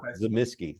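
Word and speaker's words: Tzimisce: and I'm a huge fan of I say zamsky because it's spelled exactly like this Noble house from the history of the Byzantine Empire and it was zamsky that's how they pronounced it now I know white wolf messed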